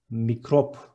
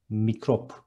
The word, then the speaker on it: mikrop: Next one, microbe is mikrop in Turkish. Instead of C, there is K, and instead of B, there is P in the end, and it is mikrop. One more time, mikrop.